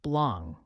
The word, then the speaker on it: blanc: snow or white clouds Blanc is pronounced blong with a nasal n and finally Gris meaning